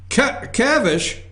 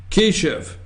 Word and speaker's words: Keshav: I think that's how you say his name. I had it up here earlier. Put up Kyle's picture. I think it's Kavish. Let me see here. Keshav. Do right? we have the correct pronunciation of the correct pronunciation? Do we have the correct? Let's see. Keshav.